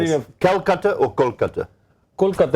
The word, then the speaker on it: Kolkata: Kolkata is a Bengali pronunciation.